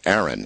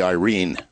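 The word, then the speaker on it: Airyn: my way of thinking, Aaron. It's A-I-R-Y-N, Aaron. But actually, correctly pronounced, as it would be read by a Filipino, would be Irene.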